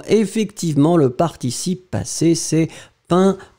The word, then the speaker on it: peint: écrit magnifiquement effectivement effectivement le participe passé ses pains p e ent faites attention joseph ouais vous